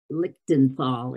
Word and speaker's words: Lichtenthal: working with wendy little and lillian paul little lichtenfall is how you say her name lichten paul and she's at sloan kettering in new york